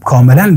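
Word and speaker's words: comb: صدا هسته و چه زمانی در کلمات صدا نمیده وقت بی در آخر کلمه قرار بگیره و ما قبل بی حرف ام قرار بگیرن یا حرف ایم باشه در او صورت او حرف بی تلفظ نمیشه کاملاً بی صدا هسته کاملاً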